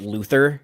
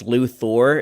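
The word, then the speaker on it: Luthor: I'm a stickler for you're supposed to say lexa's last name as luor not Luther it's Lu Thor is how you say it and uh odess was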